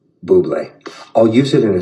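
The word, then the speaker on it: Bubly: Today is the day I can tell the world it's pronounced Buble.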